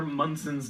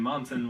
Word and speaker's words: Munson: By the way, I actually know Senator Munson's name. You kept on saying Monson when in fact it's pronounced Munson.